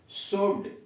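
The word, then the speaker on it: should: अब आइए शुड, एस एच ओ यू एल डी, शुड, चाहिए।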